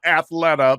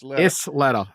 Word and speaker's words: Isleta: L is L yeah so it's not Athleta but it'sa Isleta yeah they make like